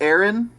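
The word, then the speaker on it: Aeren: but certainly not least um eric is it pronounced aaron is that how it's oh my god okay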